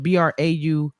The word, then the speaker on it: Braumauh: So it's different because it's Braumah. It's like trauma, but with a B and the H at the end.